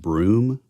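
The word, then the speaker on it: Bruttenholm: think it's actually pronounced broom which is weird it's like a Massachusetts style spelling uh pronunciation but CLA yeah exactly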